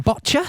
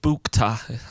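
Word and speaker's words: Bouchta: Madison Botcha. Right. Oh yeah, Madison Bukta. I would pronounce that. I'd say Botcha. Spell it. It's boo. It's B-O-U. B-O-U. Yeah. You'd say boo, wouldn't you? C-H-T-A. Bournemouth. Bukta. Bukta.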